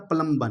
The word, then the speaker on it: plumbum: Lead का Latin नाम होता है प्लम्बन। क्या होता है? प्लम्बन। प्लम्बन से आते PB इसको बोलते हैं। प्लम्बन का स्पेलिंग होता है भैया PLUMBUM, P और B।